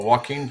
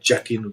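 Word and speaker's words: Joaquin: Walkin or walkin Phoenix. Walkin. There we go. Not Jackin. Walkin.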